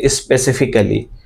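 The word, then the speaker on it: specifically: ইউ স্পেসিফিক ফর you right of স্পেসিফিক never স্পেসিফিকালি আমরা কিন্তু এই ভুলটা অনেকেই করে থাকি আর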